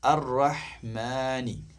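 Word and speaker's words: الرحمن: അർ-റഹ്മാനി, മാനി, മനിയല്ല മാനി.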